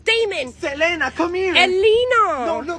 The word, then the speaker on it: Damon: That's not how you say his name, William. It's Damon.